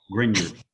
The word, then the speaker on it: Grignard: yeah just the g the middle g is silent so it's like grin europe the g oh oh it's grenard grignard greg okay so think